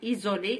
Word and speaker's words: isoler: Choisir, saisir, isoler, isoler, isoler entre l'I ou l'O, entre deux voyelles.